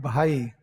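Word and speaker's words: भाई: Hindi we call it bhai. How we pronounce?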